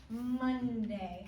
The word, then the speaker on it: Monday: Today is Monday. How do I spell Monday? Oh, good. D. A. Silent. Y. Everyone say Monday. How many syllables? Monday. How many? Two. Show me. Monday. Very good. It's 2 syllables.